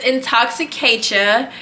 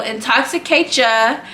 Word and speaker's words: Intoxicatia: So it's Intoxicatia. I will spell it out. It's Intoxicate, CHA, the first 3 letters of my name. So Intoxicatia.